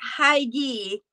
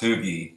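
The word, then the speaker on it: Hygge: And this is I call it Hygie, but I'm not sure that's the way we pronounce it. It's pronounced Hoogie.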